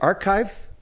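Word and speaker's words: arXiv: and the 1916 paper on how do you pronounce it archive the website and this is from nineteen or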